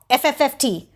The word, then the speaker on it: Phffft: and Wikipedia likes to remind us that it is spelled, and you just ran away. It's Phfft.